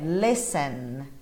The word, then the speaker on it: listen: Cuidado com esse T, ele não é pronunciado, tá bom? A pronúncia dele é listen, listen, listen to music, não listen, como a grande maioria acaba falando, né?